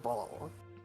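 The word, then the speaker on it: Bhaal: In Forgotten Realms, it's Ball. It's pronounced Ball.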